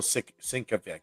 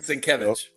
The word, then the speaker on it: Sienkiewicz: And I feel I Bill Sinkovic. I mean, Mike, say it for us, please. I don't do it justice, man. Say his name. Sienkiewicz.